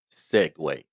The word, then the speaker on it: segue: So, what I need you to do is learn this word Segue. Segue. It doesn't sound the way it's spelled, but that's how you pronounce it.